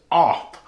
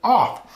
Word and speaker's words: OFRF: this they tell me the r is silent and you do pronounce it off it is the gear